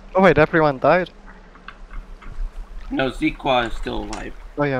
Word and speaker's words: Zeaqua: Yeah, so Zeaqua. That's how you pronounce Zeaqua's name. It's Zeaqua.